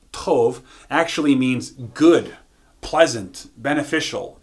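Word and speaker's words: טוב: put that in with very and good good pronounced Tove actually means good pleasant beneficial and bounty what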